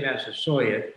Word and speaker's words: Massasoit: do it we say massa saw it because that's how uh bradford wrote it he wrote it with a y which would indicate that that was quite how he pronounced it as well so in